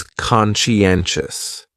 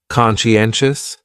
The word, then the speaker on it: conscientious: So conscientious has four syllables and the stress is on that third syllable. N conscientious. Conscientious. That second syllable is what really confuses people because that sigh almost sounds like you're saying she.